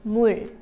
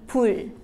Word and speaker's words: 물: When pronouncing water in Korean, remember to start it with an M sound. The way to say it is 물.